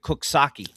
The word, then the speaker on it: Coxsackie: Up north, we've got Coxsackie. So You do, yes. Although I believe they pronounce it Cooksaki.